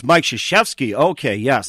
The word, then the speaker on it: Krzyzewski: I always say his last name wrong. Trzynski. I always say his name. Is he the coach from Duke? Yes. It's Mike Krzyzewski.